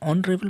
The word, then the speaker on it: honorable: Though the consonant is used there H, but H remains silent and then sound comes the vowel. So definitely in that case we use an hour, an honorable man, an honest fellow.